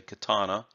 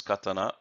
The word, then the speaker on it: katana: which in the Western tongue as you say katana but properly said is katana and also Saudi so these are the katana